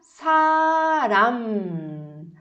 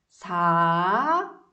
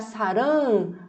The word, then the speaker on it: 사람: E aí a gente vai colocar a palavra 사람. 사람. 사람. 사람. Percebe que eu fechei a minha boca, os lábios? Se você abrir, se deixar saram, vai parecer amor, tá?